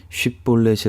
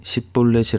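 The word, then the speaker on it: 쉽볼렛: 곡식 또는 열매를 뜻하는 쉽 볼넷이 라는 단어를 발음해 보도록 했는데요 에브라임 사람들은 이 쉬 발음을 못하고 스스로 발음하는 엑센트를 가지고 있었기 때문에 이 쉽 볼넷을 10 뿔 넷이 라고 발음 하게 되었고 이 발음을 통해서 에브라임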